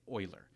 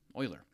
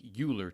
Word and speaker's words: Euler: It's named after the Swiss mathematician Leonard Oiler, and his name is pronounced well, Oiler, just like the Edmonton Oilers hockey team. So, if it looks like Uler to you, you're definitely not alone.